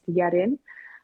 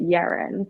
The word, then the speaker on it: Yerin: picked up kind of mentioned that Korean it's pronounced yetin um is there and a bit whereas like in I guess the the English language or like British English or American English people would pronounce it yearin and I'm guessing you